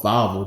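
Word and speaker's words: Wawel: valal Dragon it's called it's called vvo Dragon they pronounce their W's with a V sound they have this statue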